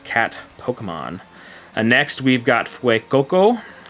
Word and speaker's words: Fuecoco: Next, we've got Fuecoco, which I gotta say it like you're saying it with your Spanish accent, you know, Fue. Makes you think like in Fuego, on fire, you know.